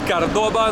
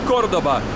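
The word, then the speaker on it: Córdoba: Лёха и я в кордабе или кто-то говорит кордоба но правильно говорить кордоба это второй по величине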